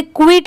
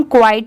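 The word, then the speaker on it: quiet: इसे क्विट नहीं पढ़ेंगे। बहुत सारे लोग इसे क्विट प्रोनाउंस करते हैं बट वो रॉन्ग होता है। इसे हम क्वाइट पढ़ेंगे।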